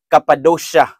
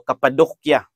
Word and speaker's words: Cappadocia: Labi na ang lugar nga ginganlan og Cappadocia o Cappadocia. Both pronunciations are acceptable.